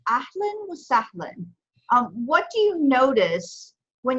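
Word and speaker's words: أهلا وسهلا: Okay, so it's pronounced ahlan wa sahlan.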